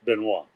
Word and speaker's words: Benoist: a sign of royalty s in the name benoa became a sign of royalty and the oit had to have an accent over the eye in order to be pronounced benoa okay wow history yeah I'm looking at the